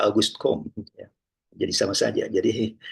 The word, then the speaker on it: Auguste Comte: Auguste Comte ya atau Auguste Comte ya. Maaf ya kalau saya membacanya Auguste Comte itu orang Prancis menyebutnya begitu, Auguste Comte. Tapi kalau orang Inggris menyebutnya Auguste Comte ya.